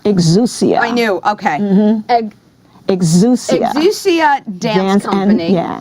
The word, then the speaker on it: Exousia: it is Lucia exuse see I knew okay exuse do you see a dance dance and fitness